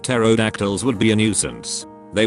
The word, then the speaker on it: pterodactyls: I feel like pterodactyls would be a nuisance. They would urinate all over us and we wouldn't even notice. You would probably notice it, just not hear it. The P is silent.